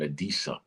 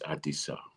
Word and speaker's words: Adisa: Americans pronounce it Adisa. It's not Adisa, it's Adisa, right?